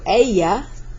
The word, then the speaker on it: ella: Double Y here means I'm going to pronounce that like a Y, double L, I said double Y. So ella is she.